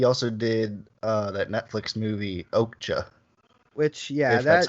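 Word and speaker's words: Okja: and then he also did that Netflix movie okhta which yeah that's how you say it it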